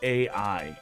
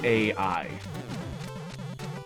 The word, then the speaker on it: AI: It's pronounced AI. So if that's what you're going to talk about, if you're going to say it 40 times, it's AI.